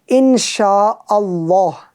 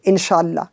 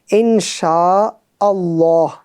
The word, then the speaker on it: इंशा अल्लाह: सही उच्चारण बहुत अभ्यास। वह है, इंशा अल्लाह। यानी, कई मध्य हमजा और अलिफती इसे छोड़ देना। सही ढंग से पढ़ें नहीं। इंशाल्लाह। इंशाल्लाह, ऐसा नहीं, बल्कि इंशा अल्लाह।